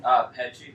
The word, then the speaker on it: Petsche: Petsche.